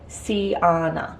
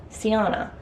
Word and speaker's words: Siana: to pronounce my name that is how you pronounce it Siana Siana like banana but not like banana not like American bananas I'll go through my